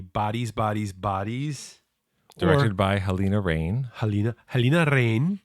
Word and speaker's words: Halina Reijn: Directed by Helena Rain. Helena Rain, as we were instructed by some dude on YouTube because we weren't sure how to say it. But a Dutch dude, so it's legit.